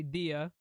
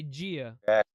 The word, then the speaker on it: dia: things like um like let's say for example Dia right you guys say Dia we say Gia like bone Gia instead